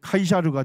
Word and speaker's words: 카이사르: 그래서 이제 성경은 가이사 이렇게 하는데 그걸 이제 라틴어로 발음하면 카이사르가 되는 거고, 그거를 영어로 발음하면 뭐가 돼요? 시저가 되는 거예요.